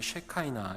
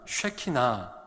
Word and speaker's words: 쉐키나: 사람들을 위해서 불리어 졌습니다 그런데 이 쉘 카이 나 라는 발음은 요 히브리어를 영어식으로 발음한 발음이 셀카 이나 입니다 원래 히브리어 그대로 읽으면 쉐키나 혹은 쉐키나 입니다 외울 쓰시는지 모르겠지만 하나님의